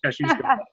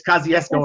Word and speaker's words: Kościuszko: Well, you pronounce it right the Polish way, yes, which it is Polish. That's how it's said in Polish, Kościuszko. It's Kosciuszko in American, yeah.